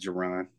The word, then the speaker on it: Jaron: It's pronounced Jaron.